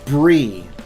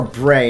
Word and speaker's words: Brie: one uh Lieutenant Shira Brie um it's spelled BR EI it's Bri or Bray and I've never been able to settle on which is accurate I settle for Bri and it's um pretty